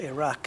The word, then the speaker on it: Iraq: There's no, I don't think those people pronounce the I like an I. It's pronounced like an it, as in ink, or insightful, or initiative. Iraq. Actually, the Q is more like a sound, isn't it? Iraq. Back of the throat stuff.